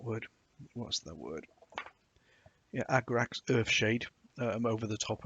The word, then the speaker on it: Agrax: put a little bit of um earth the ergrax oh i can never pronounce that word what's the word yeah agrax earthshade shade over the top of it it